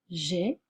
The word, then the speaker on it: j'ai: au présent on dit j'ai tu as il a faites attention à la graphie a I on prononce e bien pour entendre la